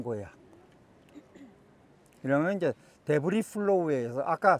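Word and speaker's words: debris: S는 발음 안 해. 불러기 때문에. 데브리 플로우.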